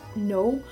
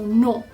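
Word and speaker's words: non: It's obviously the negation of yes, no, and it's basically just no with an N put on the end of it, so no. The reason why I kind of say it like the no, and that's how my French teacher taught me, is kind of like the oh, like you're saying oh.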